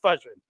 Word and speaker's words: Fushion: to call him, Fushion, because there's two S's. It's not Fusion, it's Fushion, but whatever.